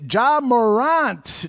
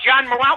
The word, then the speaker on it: Morant: It's Ja Morant. Ja Morant, I believe is the pronunciation. Whatever his name is. I thought John Morant, when I first heard the name, I go, is he a French actor?